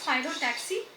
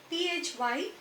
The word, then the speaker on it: phyllotaxy: This arrangement of leaves on the stem or a branch, it is called phyllotaxy. Okay, so try to learn the word properly and pronounce it properly. It is phyllotaxy, Phyllotaxy.